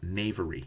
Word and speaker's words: knavery: in the first line that word that starts with a K is pronounced knavery it means trickery and